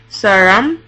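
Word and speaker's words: 사람: But in the word saram, saram, meaning person, the R sound comes after the liulu consonant, so it's pronounced R.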